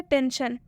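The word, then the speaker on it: tension: पहला एग्जांपल क्या है टेंशन टेंशन में एस है एस के बाद से आई ओ एन आया हुआ है तो इस आई का उच्चारण किससे किया जा रहा है अ से यानी कि टीई एन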